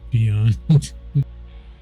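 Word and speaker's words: Pyon: The bondmen, the familia, and peon. It's spelled P-Y-O-N, but she pronounces it peon.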